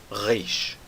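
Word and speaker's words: ריש: Agora, a letra Reish tem um som bem complicado. É um som que nós não temos no português. E é um som que, hoje em dia, no hebraico moderno, é o som do R francês.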